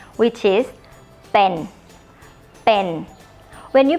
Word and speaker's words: เป็น: But it's a mixture between B and P. When you speak the word pa, it should sound like this. Okay? So pen, pen.